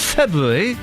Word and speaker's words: February: It's the 5th of February. There are 2 R's in February, so make sure you say them. Otherwise, it's mispronunciation and it's something I just won't stand for.